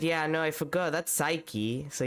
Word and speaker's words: Psyche: Also, I got reminded that, like, that word is pronounced Psyche, so technically they're Psyche-Locks, but Psyche-Locks sounds terrible as a name.